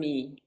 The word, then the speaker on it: Oyámie: Please tell me the correct pronunciation. Oyámie.